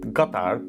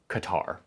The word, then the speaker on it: Qatar: of our puzzle, Qatar, a country that should be pronounced Qatar, but I'm not gonna be that pretentious guy who shows up trying to like say it in the local pronunciation because it makes me sound cultured and cool. I am that guy, I'm trying to not be that guy. So for now, I'm just gonna say it like a Texas oilman says it, Qatar, okay?